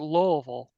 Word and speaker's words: Louisville: grave in the cemetery Louis you have to pronounce it lville l oh okay it's Lille l l Lille Lille L Lille Lille okay